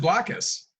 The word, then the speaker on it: Blokus: following indication for you you pronounce it with a soft o as in black but many customers seem